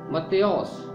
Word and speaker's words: متی: تومس۔ Number 8، متی۔ متی یونانی زبان کا لفظ ہے اور اس کا یونانی تلفظ ہے متیوس۔ متیوس کا مطلب ہے